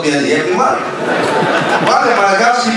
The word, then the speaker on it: Liyeplimal: Voilà un Philippien qui prononce bien Yeblimal.